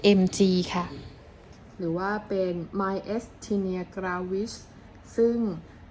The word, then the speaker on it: Myasthenia: อ่อน แรง ประเภท mg ค่ะ หรือ ว่า เป็น mystinia ซึ่ง สะกด เป็น ภาษา อังกฤษ ว่า m a y